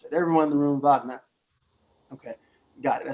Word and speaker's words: Wagner: Everyone in the room, Wagner. Okay, got it. I said, so now if an American that didn't know Germanic pronunciation or study music, they may just pronounce it Wagner.